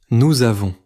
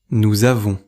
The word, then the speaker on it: nous avons: Écoutez maintenant : nous avons. Le s final de nous devient z devant avons. On ne coupe pas fortement entre les deux mots. Répétez : nous avons. Nous avons.